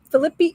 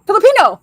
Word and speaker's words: Filipino: tell me some fact the proper pronunciation of those three Philip Philippi philippinean Filipino Filipino that's it Filipino folklore creatures gets